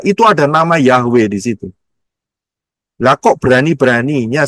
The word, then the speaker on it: Yahweh: bukan bahasa kalau Saud Lihat tulisannya adalah Yod he wau he itu tulisannya sebelah kiri bacanya dari kanan ya ingat bacanya dari kanan Yod itu yang cuman kayak koma di atas Yod he wau he ya supaya gampang kita dengarnya dengan aksara alfabet Ya mengucapnya jelas yaitu yahwe karena hurufnya adalah Yod